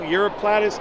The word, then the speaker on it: Uroplatus: that was just described this year it's a europlus gamas uroplatus gaso I said it right yeah yeah yeah